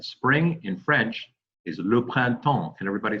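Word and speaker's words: printemps: exactly spring and spring in french is le pranton can everybody say that very good and good pronunciation i heard a number of you say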